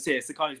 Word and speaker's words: Sakani: Sakani's one of my best friends in boxing as well. Did I pronounce his name right? Yeah, Sakani.